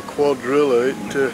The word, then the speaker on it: Cuadrilla: and understand white car Cuadrilla - it rhymes with Godzilla king of the monsters